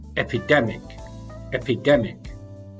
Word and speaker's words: epidemic: We have two stresses there as well, epidemic.